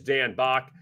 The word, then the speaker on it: Back: And you can find Dan on Twitter at Dan_BACK, spelled back, but it's pronounced Bach.